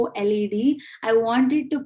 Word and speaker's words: Unschooled: And by the way, Unschooled is pronounced as Unskooled.